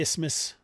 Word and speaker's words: isthmus: so much fun guys i never used to know how to pronounce isthmus i tried to pronounce the th in there all the time until people made so much fun out of me i had to look it up none of these guys